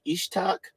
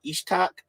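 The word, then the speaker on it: יצחק: Now it's pronounced a little different in the Hebrew. It's more like Ishtak or Ishtak.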